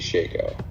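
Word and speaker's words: Shako: Is it pronounced Shaco, Shaco, or do you call it Harlequin's Crest? I call it a Shaco.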